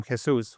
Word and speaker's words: Jesus: If you really wanted to, I'm not saying you should, but people who speak Spanish will pronounce my name Jesus, which nobody can say it if you don't speak Spanish.